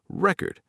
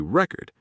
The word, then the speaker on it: record: Classic example, record as a noun, a record as a verb, to record. Same spelling, completely different sound.